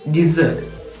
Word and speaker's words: dessert: It is dessert. Dessert. Second syllable z എന്ന ശബ്ദത്തിന് ചെറിയൊരു സ്ട്രെസ് കൊടുത്ത് dessert എന്നാണ് ഇതിനെ പ്രൊനൗൺസ് ചെയ്യാറുള്ളത്.